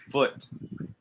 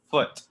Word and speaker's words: foot: food but you don't say food you say foot foot don't don't round your lips don't don't do foot no foot foot this goes down foot foot okay so it's different with food yes you make your lips into a food but this is foot foot all right very good